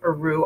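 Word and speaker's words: Rioux: You need to sign up Rio because, or Rue, R-I-O-U-X, how it's pronounced.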